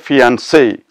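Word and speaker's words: fiancé: it's quite strange that even the addition of an extra e doesn't cause any change in the pronunciation now that is quite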